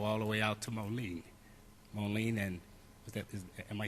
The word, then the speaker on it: Monee: First came on the board, I had the opportunity to travel all the way out to Monee, and am I saying it right? Monee? Yes, Monee.